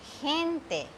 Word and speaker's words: gente: But when this G comes with E and I, it will be gente.